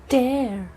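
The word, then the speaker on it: tear: पर उसकी प्रोनाउंसिएशन होती है टयर।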